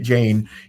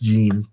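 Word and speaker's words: Jein: I keep wanting to call him Greg Jane because I knew somebody I worked with whose last name was spelled that way but pronounced it Jane. It is pronounced Jean, Greg Jean.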